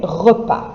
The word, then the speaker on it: repas: En français, les repas. You can see here the spelling of it is not straightforward because you have a silent S on the end of it.